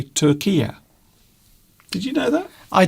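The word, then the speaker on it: Türkiye: people from now on should not say Turkey. It should be Turkia. So Turkia is how most news presenters will pronounce the name of that country. So instead of saying Turkey, they say Turkia.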